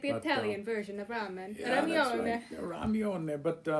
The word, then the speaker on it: ramen: kidding but it's again the r may be difficult for some americans to pronounce it's right it comes